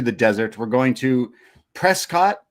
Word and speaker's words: Prescott: We're going to Prescott. They said Prescuit, but it's spelled like Prescott.